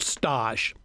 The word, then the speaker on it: stage: France years ago there's a term called Stosh it's spelled stage and I know you